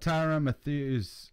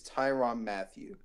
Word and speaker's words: Tyrann Mathieu: wise in this draft I looked up Tyra Matthews we're just a honey badger and what the damn name is it's like spelled funny everything is spelled funny with his name is spelled tyr a in in so Tiran and let's - its Tyrann Mathieu and it's ma thi